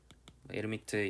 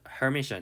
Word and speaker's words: Hermitian: 그러니까 이게 한국말로 에르미트 행렬, 에르미트 연산자 뭐 이렇게 부를 텐데, 이거 아마 유럽식 발음이겠죠? 에르미트 연산자, 그러니까 묵음 처리, H를 묵음 처리하는데 미국 사람들은 Hermitian 이렇게 부르는 것 같아요.